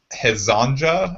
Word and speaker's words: Hezonja: But I'm gonna take Mario Hezonja, I think is how you would pronounce his name.